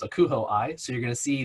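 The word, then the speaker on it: ACUHO-I: of my association which is the acronym is pronounced akuho i so you're going to see the acuh hyphen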